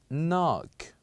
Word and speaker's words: knock: silence so here the word we have is knock knock say after me knock so here we